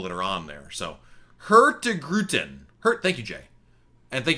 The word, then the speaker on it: Hurtigruten: I can get you the one, definitely the Hurtigrun, which is not pronounced right. This would be, Hurtigruten.